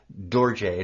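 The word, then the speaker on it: dorje: Nepal it's a called a DJ and it's pronounced DJ and it's d o r j e and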